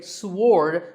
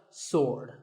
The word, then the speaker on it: sword: about this word sword many people say sward but that is totally wrong it's just sword and here's one last